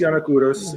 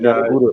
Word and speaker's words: Yannakouros: But let me first welcome and let me see if I am saying this right, Mr. What? How do you say that? Giannakourou? Is that Kouros? How do you say Yes, your name? yes, that's correct. Yannakouros, and Yannakouros. you can refer to me as